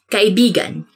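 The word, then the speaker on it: kaibigan: this word because like you have to say it like this kai bigan because means friend but when you twist it a bit uh and say it like this that's kind of it's not really a natural way of saying it but it actually means lover so like when you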